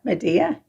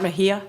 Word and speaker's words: Mejia: his name wrong correctly bart medea right right is that bart mejia mejia all right see you